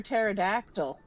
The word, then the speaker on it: pterodactyl: T is for pterodactyl. Tater. The P is silent.